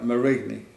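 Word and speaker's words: Marigny: that the first division is to take uh murray me spell that m-a-r-i-g-n-y and that's just outside of saint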